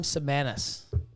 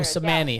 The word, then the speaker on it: Samani: Look up an AM Semanis. Austin. Oh, A.M. Samani. That's the black rooster. Oh, Yeah. Samani. Of course I pronounced the S when I'm not supposed to.